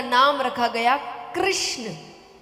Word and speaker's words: कृष्ण: का नाम रखा गया कृष्ण कृष्ण कहने में जीव घूमती है बोलो घूमी जिसकी नहीं घूमी गलत बोल रहा है हां सही उच्चारण करोगे तो घूमेगी मतलब उच्चारण सही नहीं है आपको भी आवाज आ